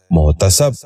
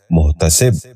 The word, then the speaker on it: محتسب: غور سے سنیے، مجلس۔ ساتواں لفظ ہے محتسب۔ یہ غلط تلفظ ہے، درست تلفظ ہے محتسب۔ دوبارہ سنیے، محتسب۔ بچوں آپ بھی غور سے سنیے، محتسب۔ آٹھواں لفظ ہے محل۔